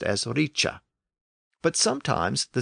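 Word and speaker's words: rīc: Native Old English words the C was being pronounced with a CH sound to reflect the assimilation which Old English had experienced so a word like r i c was being pronounced as Richa but sometimes the C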